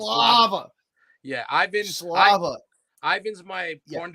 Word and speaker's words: Slava: Yeah, it's Slava. a little hard to pronounce. Slava.